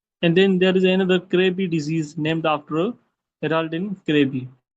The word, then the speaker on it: Krabbe: It is pronounced as Krabbe disease.